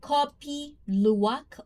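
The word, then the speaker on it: kopi luwak: So it's a copy uwok. I I'm like Indonesian people. If there's any Indonesian in the chat right now, I am pronouncing it correctly. And copy luwak or yuwak also known as cvet.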